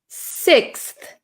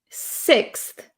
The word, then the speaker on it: sixth: pronounce this word sixth sixth sixth sixth okay so this is quite a difficult word we have an x x is um pretty rare in English we have an X and we have th so all right six